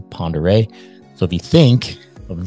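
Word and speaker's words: Pend Oreille: Lake spelled P-E-N-D, space O apostrophe R-E-I-L-L-E, which is a French word. Still pronounced the same, Ponderay.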